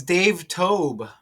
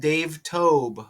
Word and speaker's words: Dave Toub: So, oh, it's Dave Tob. It's pronounced Dave Tob. Okay. So, we have Dave Tob.